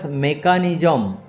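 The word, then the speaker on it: mechanism: দি nervous মেকানিজম, সিএইচ উচ্চারণে ক হচ্ছে, দি নার্ভাস মেকানিজম অফ প্ল্যান্টস, ঠিক আছে, এটা 1926।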